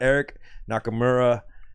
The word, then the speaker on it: Eric Nakamura: We got Eric Nakamura. Am I pronouncing that right? Yeah. Okay. Close enough. Eric Nakamura at of Giant Robot.